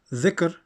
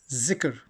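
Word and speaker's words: ذكر: They will say, instead of Dhikr, they will say Zikr.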